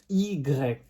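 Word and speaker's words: i grec: greek language we are going to call it egreg so the pronunciation will be easier but it will help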